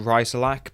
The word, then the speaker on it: Rasilak: class light cruiser now i suspect it's called rhizolak but i've never really heard it spoken it's one of the more obscure classes if you can think of a better way to pronounce it let me know but uh writerlack is what i've come to know it as in real life it